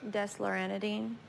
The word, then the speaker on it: desloratadine: nightly for your 12-year-old, and how do you pronounce this one? Desloratadine. Desloratadine, take 1/2 tab by mouth daily.